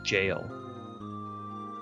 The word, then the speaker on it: gaol: That's just another way to spell the word jail.